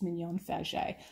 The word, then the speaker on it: Mignon Faget: out to me and asked me how you pronounce it so you know everything's very frenchy in new orleans it's mignon fagi so i did i did just want to